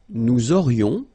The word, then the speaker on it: nous aurions: Nous aurions, liaison here, this little link. Nous aurions, final S not pronounced.